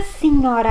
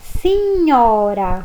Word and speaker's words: signora: Buonasera, signora Anna. Buonasera, Piero. Lei è tedesca? No, sono svizzera. Então nós observamos aqui, né, na primeira frase, buonasera, signora. Olha o GN aí com som de NH.